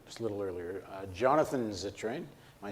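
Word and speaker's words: Zittrain: were at or just a little earlier Jonathan zitrine am I saying it right yep is a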